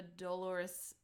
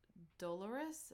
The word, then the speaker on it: dolorous: the sound of a Dolores dolorous is the right way to say it Laura Dolores Bell fills